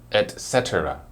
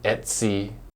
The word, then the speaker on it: etc: it are you ready it's etc etc some people will just spell it out like e t c but other people will shockingly say Etsy Damon it's like a